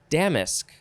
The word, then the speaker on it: damask: okay next it is damask i think that is how you pronounce it damask d-a-m-a-s-k noun from the 14th century the emphasis is definitely on the first syllable one a firm lustrous